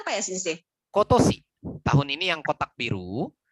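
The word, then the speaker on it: 今年: tadi saya mau tahu tahun ini bacanya apa ya Sensei? Kotosi. Tahun ini yang kotak biru, yang Kotoshi.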